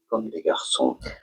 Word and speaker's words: Comme des Garçons: French, this means like boys, and they say it as comme des garçons.